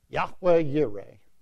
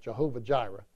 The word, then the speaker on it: Yahweh Yireh: of songs and whatnot, Jehovah Jireh. All right, but Jehovah's a corruption of the divine name. It's an attempt to pronounce the consonants of God's name with the vowels of the word Adonai. So Yahweh Yireh, or Jehovah